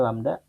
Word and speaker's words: lambda: Ini dibacanya lambda.